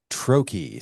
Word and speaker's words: Troche: Pronunciation of your last name? Troche. So if you spelled it phonetically, there you go.